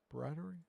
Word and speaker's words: Briatore: Yeah, but the whole I looked up the team principal and it Fabio I cannot pronounce these guys' names. Briatore. Briatore.